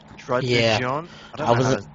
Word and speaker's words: Druddigon: She will be using Dragonite, so yeah, and then you've got your Druddigon. I was gonna even try to pronounce that. It's just Druddigon.